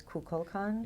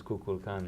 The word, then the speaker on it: Kukulkan: He he's the Aztec version and the Maya version is Kulkan. Is Kukulkan.